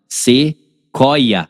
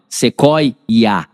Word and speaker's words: sequoia: E aí o U, ele é pronunciado, o O, ele é pronunciado, o I, ele é pronunciado. Aí lembra o que acontece aqui? Parece que tem um IA, tá vendo? Sequoia, tá vendo? Sequoia, igual papagaio, lembra disso?